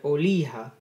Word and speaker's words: Olija: during the steam festival the game is called oliha or is pronounced as this is a game created by